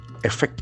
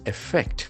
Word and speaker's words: effect: by rain lacks affected effect a ff that is a very important verb with two syllables Effect. Effect. The action falls on the second syllable.